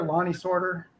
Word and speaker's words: Lonnie Sorter: say my name right it rolls a little quicker lonnie sorter i'm a not a